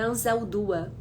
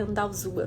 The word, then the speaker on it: Anzaldúa: Eu tô falando, eu pronunciei errado, né? Anzaldúa. Eu falei Andalzua, não foi?